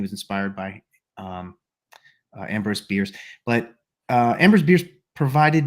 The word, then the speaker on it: Bierce: And he was inspired by a guy named Ambrose Bierce.